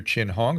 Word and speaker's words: Chin-Hong: diseases in those with suppressed immune systems dr chin hong welcome to the program thanks so much for